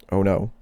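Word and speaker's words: Ono: The sons of Lad, Hadid, and On No, it's spelled literally O N O. Oh no.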